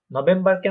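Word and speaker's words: November: হ্যাঁ, নভেম্বরকে আমরা বলবো নভেম্বর। নভেম্বর, কারণ দেখেন এখানে একটা ভে যেটা আছে ভি, ওটা ফাও, তাই না? হয়ে যাবে নভেম্বর।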